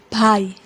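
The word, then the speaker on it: भाइ: Think of saying bye to someone, but instead of bye, you have to stress the I sound a bit longer. Bhai, bhai, bhai.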